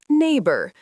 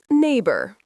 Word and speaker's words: neighbor: Neighbor. The gh is silent. Neighbor.